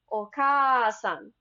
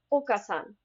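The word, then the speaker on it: お母さん: And mother would sound like okasan versus okasan.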